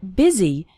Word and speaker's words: busy: and fast spoken English the word busy is pronounced with an e sound busy and the word and